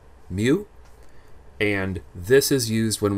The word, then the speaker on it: mu: curls at the end this is the symbol pronounced m y o o mu alright this is the greek letter mu and this is used when we have the